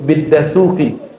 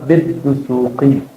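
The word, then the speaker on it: بالدسوقي: Contoh dia nyebut biddasuki itu orang Padang tuhuki yang tepat adalah biddusuki.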